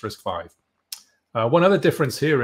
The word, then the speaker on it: RISC-V: risk i i right so it's not risk v it's risk five uh one other difference